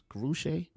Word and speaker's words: Karrueche: back this young lady seems to be Karrueche is that how you say her name Gucci or whatever name is guru Shay yeah yeah the young